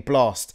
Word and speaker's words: Blxst: case people don't know your name is spelt with an a in without the a in the blast it's the x instead of the a in your name blast yeah yeah you've told the